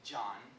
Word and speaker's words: Can: And it's in Turkish, it is, the C makes the J sound. So it looks like can, it sounds like John.